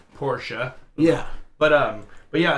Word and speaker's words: Porsche: just like a lot most americans say porsche and it's actually porsche yeah but um but